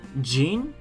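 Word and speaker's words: 人: we have to uh it can also have a second pronunciation gene so uh it's like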